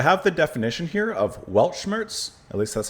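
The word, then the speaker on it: Weltschmerz: So, I have the definition here of Welchmmerz. At least that's how I believe it's pronounced. Velmers.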